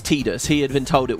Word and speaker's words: Tidus: And so for me, it was always Titus. Eventually, like, I think in the Kingdom Hearts series was when it first actually appeared, voice acted. They called it Tidus.